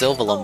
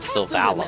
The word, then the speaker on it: Sylvalum: It's pronounced Sylvalum, but I keep calling it Sylvalum.